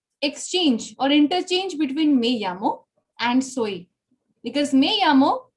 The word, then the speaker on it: llamo: Me llamo, understand. It is not lamo. I remember last day, somebody had a question about how to pronounce double L. Yes. So you call it me llamo. Okay. It is Y pronunciation. It is not L.